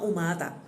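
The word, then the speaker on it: Humata: La herramienta se llama Umata. Umata se escribe con H, umata.ai.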